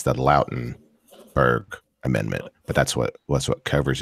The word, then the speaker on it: Lautenberg: There's a federal law that goes along with it, and I mispronounced it, but it's the Lautenberg Amendment.